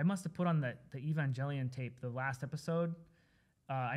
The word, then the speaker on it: Evangelion: I think it's pronounced Evangelion.